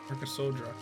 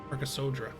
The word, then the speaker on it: Arasa: Arasa. The second A or second to last A is silent. Arasa.